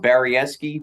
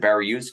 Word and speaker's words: Baryiewski: name Bari that's it's actually pronounced baresi my whole life everybody has pronounce it bar yusi because that's the way it's spelled so let's go with